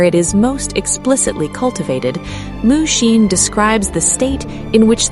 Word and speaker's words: mushin: Mushin, pronounced moo-shin, written with the character for no or without, moo, and the character for heart-mind, shin.